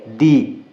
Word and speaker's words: the: अगर दी के THE के जस्ट बाद वाला वर्ड जो है ना वो वोवेल है, वोवेल से स्टार्ट हो रहा है, तो हम वहाँ पर दी पढ़ेंगे, उसको प्रोनाउंस करेंगे दी।